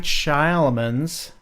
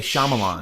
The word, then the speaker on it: Shyamalan: in 2000 it was M night Shyamalan is how you say it shush I'll hear everyone say Shyamalan shush that's wrong I've heard a lot of people say Millan it's not even spelled shaman Shaolin on